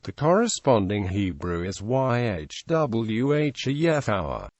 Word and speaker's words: Yahweh: Yehowa, Yahweh.